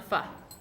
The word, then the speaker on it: pho: But you've also been busy working on the pho. Yeah. Am I saying it right? Pho? Yeah, pho. That's perfect.